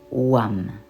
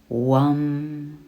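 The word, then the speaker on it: VAM: utiliser son mon Manra le mantra WAM il s'écrit V a M vous pouvez répéter WAM WAM en visualisant votre chakra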